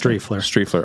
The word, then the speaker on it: Striefler: How do you pronounce your last? Strefler.